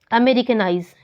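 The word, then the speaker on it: Americanize: Last से हम count करना स्टार्ट करेंगे और लास्ट से फोर्थ syllable पे वो एक्सेंट होंगी। For example अमेरिकनाइज, noise, carry में, अब देखिए लास्ट सिलेबल से काउंट करेंगे।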